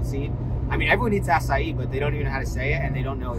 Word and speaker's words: açaí: I mean, everyone eats acai, but they don't even know how to say it, and they don't know it's from Brazil. Oh, I love this acai smoothie.